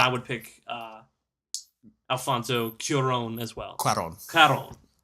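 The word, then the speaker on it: Cuarón: would pick uh Alfonso curon as well it's like it's like qw oh they spelled with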